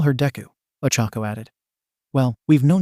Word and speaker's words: Deku: But Deku is pronounced the same as Dekaru, which means I can do it, Ochako said brightly.